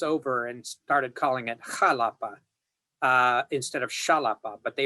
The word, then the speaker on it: Jalapa: the Gulf Coast of Mexico, and it's called Jalapa.